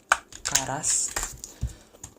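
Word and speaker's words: ǁKaras: This obviously represents the clicking sound that you make when you say it. So it's actually supposed to be pronounced something like Karas.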